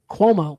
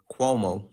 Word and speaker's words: Cuomo: I want to make sure I pronounce it right. Cuomo.